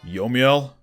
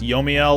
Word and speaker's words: Yomiel: So, I don't know if it's pronounced Yomiel or Yomil. Uh I'm going to say Yomiel because uh I think Yomi in Japanese means death.